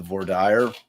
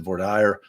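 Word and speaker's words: voir dire: being truthful during uh the vire or the vorer however you want to pronounce it I pronounce it vire Ally pronounces it V but you know it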